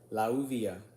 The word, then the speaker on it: Lauvia: Lauvia, that's how you pronounce the name properly.